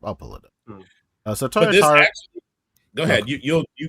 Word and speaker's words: Toyotaro: Uh how do you say his name Torataria? Tora the the old man Goku. Toyotaro?